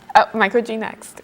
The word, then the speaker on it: Micro-G-NEXT: And so Camille, tell us about microgravity neutral buoyancy experiment design team, or micro-G-NEXT. Hope I pronounced it right. First, how do you pronounce the acronym? Micro-G-NEXT. Okay, yep, you got it.